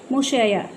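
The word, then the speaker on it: monsieur: आर यू, यहाँ पर देखिए एक वर्ड दिया हुआ है, इसका प्रोनाउंसिएशन आपको नीचे दिया हुआ है, मुशैयर।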